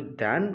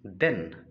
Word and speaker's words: than: सो be mindful and it's pronunciation is देन time, but it's pronunciation is दैन, दैट is comparison. So be conscious. दैन, AN लगा है तो एन बोलते हैं, AN को एन तो नहीं पढ़ते।